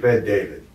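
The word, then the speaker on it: Bet-David: Yeah, Patrick Ben David.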